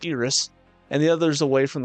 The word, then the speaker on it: Iris: The two of them es escorted as I or sorry forgot it's pronounced Iris and the others away from the chaos of the crown city and saw them safely to Ltoalum.